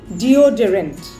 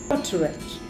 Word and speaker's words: deodorant: Next word, D-E-O-D-E-R-A-N-T, deodorant. That is a wrong pronunciation. The correct pronunciation is deodorant.